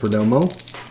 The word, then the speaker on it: Perdomo: for dirt for Domo Perdomo thank you pronounced Perdomo alrighty Joey Votto Lewis